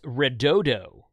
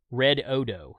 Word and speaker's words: Redodo: This Redodo brand here, Red Odo is how they say to pronounce it, Red Odo.